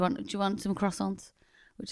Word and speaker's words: croissant: Um So, uh the we say croissant, but I do believe it's a I think we're wrong. We are wrong cuz we sound like it's spelled Q U. Croissant. We're nearly saying quack.